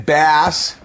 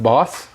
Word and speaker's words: Baas: Anyway, guys, Bass from Iowa. We got a Gen 11 box here. Isn't it pronounced boss? What did I say? You said bass.